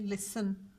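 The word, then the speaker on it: listen: ठीक है, तो अब आप देखें कि इसमें लिसन लाम आता है लेफ़्ट साइड से, फिर ई, फिर सीन और एन नून। अब जो यहाँ पे टी है साइलेंट है।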